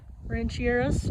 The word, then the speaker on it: Rancherias: about to walk the Rancheria slop that is how the staff pronounces it so that is how I will pronounce it but I'm at the West rancheras trail head only one